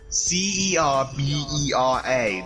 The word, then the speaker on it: Cerbera: CERBERA. That's how you And for pronounce it.